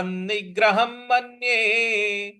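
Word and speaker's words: निग्रहम्: तो तस्याहन तस्याहन निग्रहम निग्रहम निग यहां पर ग पर हमको आघात देना है।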